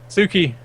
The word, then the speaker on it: Tsuki: the U, yeah, the U gets swallowed because in Japanese they don't really use the U sound. Alright, I was just saying Tsuki.